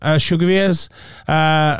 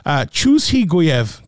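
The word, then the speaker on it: Chuzhigaev: I'd probably break it down differently now, but it is Ibrahim Shugaviez, whose name I just absolutely destroyed. Chushiguyev, that's how you say it.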